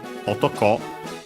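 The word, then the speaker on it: 男: Be careful that despite the rules we have mentioned about no, in this case, otoko on its own would be accented on the last syllable, and would mean man or male.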